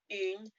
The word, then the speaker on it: une: So that une is a different sound from the ou. Une poule. U is made by making an E sound with your mouth and then rounding your lips.